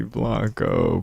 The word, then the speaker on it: Blanco: Benny Blanco pronunciation.